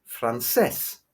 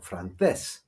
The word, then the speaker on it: francés: Or for example, francés or francés. This word ends in S, but the stress is on the last syllable, not the penultimate syllable.